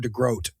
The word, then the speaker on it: DeGroat: DeGroat or DeGroat? DeGroat. DeGroat. Okay. Yeah. There you go. Grout would be the thing you put on your around your tub or on your tile.